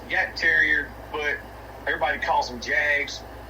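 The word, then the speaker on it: Jagdterrier: No, on the the the German hunt terrier is pronounced yak terrier, but everybody calls them jags here in the US.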